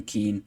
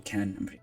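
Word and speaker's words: Kean: we're going to continue Keen or Ken that's Ken it's pronounced even though it was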